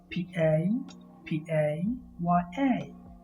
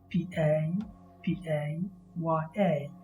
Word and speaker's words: papaya: second word is spelled p a p a y a p a p a y a it has three syllables the second syllable pie carries the main stress so you say papaya papaya you don't say papaya